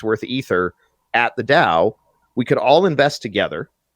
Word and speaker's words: DAO: Although I like to pronounce it, Homer's catchphrase, I like to call it the DAO, because that's exactly what happens.